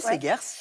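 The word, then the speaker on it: Seghers: C'est aux éditions Segers, je prononce bien Segers? Oui, Segers.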